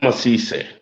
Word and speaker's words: Asisseh: Asisseh. Is that how to say it? Dr. Asisseh.